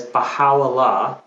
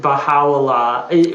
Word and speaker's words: Baha'u'llah: Right, Baha'u'llah. But I know I'm not doing it to the correct like Persian pronunciation, but that's as good Okay. as I get.